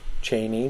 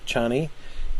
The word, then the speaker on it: Chani: Cheney uh and um I think it's a long a Cheney not chanie um anyway if you